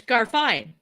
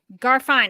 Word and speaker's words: Garfein: And is it Garfein or Garfein? It's Garfein. Garfein.